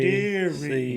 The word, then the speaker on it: Deary: You pronounced it right. Deary.